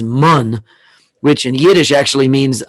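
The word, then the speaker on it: מן: Because the Hebrew way of pronouncing manna is mun, which in Yiddish actually means poppy seed spread that you put inside your hamantaschen.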